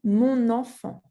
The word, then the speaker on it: mon enfant: Same thing for enfant, mon enfant, and not mon enfant. You have to say mon enfant.